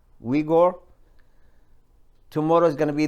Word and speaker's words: Uyghur: Now the Uyghur, that's how you pronounce it, Uyghur.